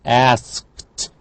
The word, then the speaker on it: asked: Again, k, unvoiced, so asked. Asked.